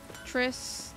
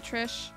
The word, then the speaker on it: Triss: oh i don't know tris not trish all right i got you i got it i know how to pronounce tris now it just sounds weird